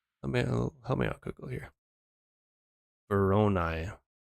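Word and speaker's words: Voronoi: me out Google here veronai with a short o sound like the O and or o and I always and veronai brown eye okay I think I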